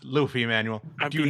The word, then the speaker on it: Luffy: Okay, but it is pronounced Luffy, Manuel.